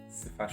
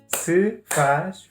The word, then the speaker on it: se faz favor: So if you go to a shop, you just say café, se faz favor.